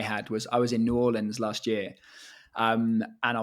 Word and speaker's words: New Orleans: and he told me he's like no it's not New Orleans it's New Orleans I'm like okay got